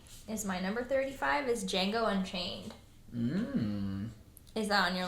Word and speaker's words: Django: The D is silent, and that's all I have to say.